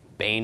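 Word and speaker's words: בֵּן: the nun Bane okay Bane as the pronunciation of this word and Bane is a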